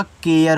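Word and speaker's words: care: देखो अगर कहीं आपको ए आर ई ऐसे दिया है इसको इंग्लिश में आर भी पढ़ेंगे। ठीक है? लेकिन इसको एयर भी पढ़ते हैं। जैसे इसको आप एयर पढ़ोगे तो सी से आपका क हो गया। लेकिन जब एयर लिखोगे जो आपका ए होता है ना वह एक ही मात्रा के रूप में इस पे यूज़ होगा। और य और र लिखोगे ये देखो आपका केयर हो जाएगा।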